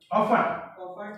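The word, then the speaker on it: often: Different stakeholders have different interest and company of ऑफन, ऑफन का मतलब T silent है, ऑफन, ऑफन का मतलब अक्सर।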